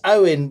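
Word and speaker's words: Eoin: Morgan Owen no no I know it's spelled a bit weird for your English eyes but it's Owen Morgan that's one thing but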